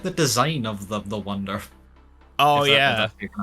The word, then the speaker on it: Wunder: I'm assuming, based on my limited knowledge of German, it's literally just Wonder in German. Am I correct? Yeah. Yeah, it would be pronounced from the German I know. Yeah, it would be pronounced Wunder, but it's Wonder.